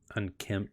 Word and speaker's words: unkempt: Unkempt. Yeah, because kempt is MPT. Yeah, no, there's a P. I forgot about that one. There's a semi-silent P in the middle of that.